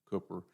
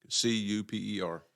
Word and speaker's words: Cooper: Cuper. Yeah. No, I was speaking to a lady at the forum, and she said, it's just like a chicken coop.